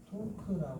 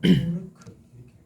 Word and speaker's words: 토크: 어떻게 읽으라고 우라고 읽지만 토크라 이해하는 거죠 토크 일본 사람들은 토르크 이렇게 어 토르크 크라 자 이렇게 하는데 요거는 그냥